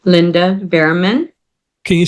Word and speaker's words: Bearman: Under my name, Linda Bearman. Can you spell that just to play safe? Yes, Linda, and the last name as in boy, EARMAN. It's just like Okay. bear and man.